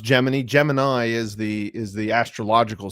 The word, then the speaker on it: Gemini: is in my collection so what was project geminy geminy and it was by the way pronounced gemin Gemini is the is the astrological sign gemin is